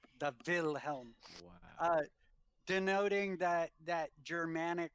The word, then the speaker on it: Wilhelm: spelled with a w it is spelled with the w but pronounced with the v the will helm uh denoting that that